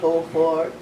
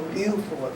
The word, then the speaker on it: Beaufort: into the Civil War at Beaufort, South Carolina, or Beaufort, whichever way you want to pronounce it.